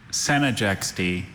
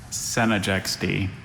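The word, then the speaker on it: Senijextee: And there's that schwa in the 2nd syllable that could be just about Senegexty.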